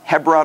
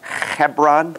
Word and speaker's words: Hebron: buried there and uh you pronounced hebron wrong it's hebron okay yeah you got to get a little flam out anyway there you go chapter 24.